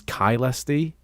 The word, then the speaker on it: Caelesti: Or as I just discovered in this video, we don't pronounce it Ksti to begin with. It was Kylesi.